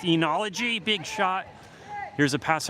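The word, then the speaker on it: oenology: The O is not pronounced though. Oology. E or O. I think you're I think you're disrespecting the O in that pronunciation. Andyy's saying it's pronounced enology.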